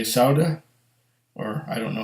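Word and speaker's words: Saúde: And did they say Sauda? Or I don't know how to pronounce it. It's Saude. Like Saudi, but with an E instead of an I.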